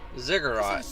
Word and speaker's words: ziggurat: Yeah, ziggurat. That's how it's pronounced.